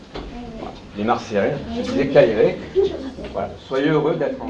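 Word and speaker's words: Χαίρε: Et il se prononce Kairé. Le X se prononce K et le P se prononce R.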